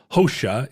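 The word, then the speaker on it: Hoxha: of uh Italian names hosha is spelled h x h a yeah um uh Mother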